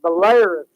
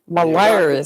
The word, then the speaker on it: Belarus: You should have said Belarus. Belarus.